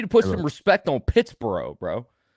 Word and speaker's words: Pittsboro: Hey, look, you need to put some respect on Pittsboro, bro. It's true. I I butchered the name. I've said Pikipsy. I've said Pittsburgh. I mean, it's been all over the place, man.